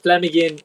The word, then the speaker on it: Llamhigyn: It's double L, which is the Welsh sound cl, and Amhigyn Idur, which is DWR. And Llamhigyn Idur.